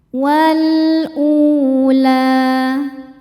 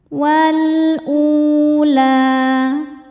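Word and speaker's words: والأولى: Wal ula. U hukumnya mad badal. Karena ada wau sukun sebelumnya ada hamzah berharakat dommah. Cara bacanya dipanjangkan dua harakat hamzahnya. Wal ula.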